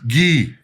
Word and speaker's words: Gui: Gee G. Gui spelled like guy, but pronounced G.